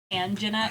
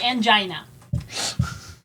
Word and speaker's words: Angina: Angina. It's angina. Angina. Not angina. Get it fucking right.